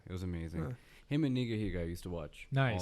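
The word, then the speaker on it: Nigahiga: Pronounced Niga Higa.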